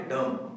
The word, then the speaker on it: dumb: तो इसी तरह से डम, DUMB, डम। तो यहाँ पर डम्ब नहीं बल्कि में डम, सिर्फ एम तक वर्ड को जो हम प्रोनाउंस करेंगे डम, ना कि डम।